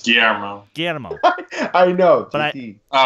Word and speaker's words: Guillermo: Is it Guillermo? No, it's Guillermo.